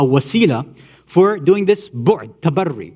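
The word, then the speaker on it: تبرّي: for doing this bu'd, tabarri, or tabarra, if you want to use it, the way we mispronounce it, keeping away and distancing ourselves from all forms of kufr.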